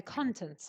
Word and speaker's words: content: within something are the contents of it so in here it's content the stresses on the first syllable and it's a noun editorial content means things